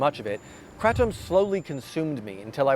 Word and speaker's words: kratom: The main ingredient inside this bottle is kratom, sometimes pronounced kratom. Kratom is a tropical tree